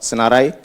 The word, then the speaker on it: Senarai: And yeah, for the name, it's called Senarai. Senarai is an Indonesian word of list or array. It doesn't mean that, yeah, and fortunately it rhymes with AI, with all the hypes we have in the past few years.